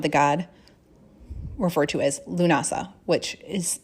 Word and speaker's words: Lughnasadh: the celebration of the god referred to as lunasa which is spelled a few different ways but generally l-u-g-h-n-a-s-a-d